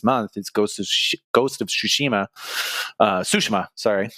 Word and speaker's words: Tsushima: Tsushima, sorry, to pronounce it correctly, or at least how they say it in the game.